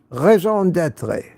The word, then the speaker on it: raison d'être: And I think it's pronounced raison d'être or something like that.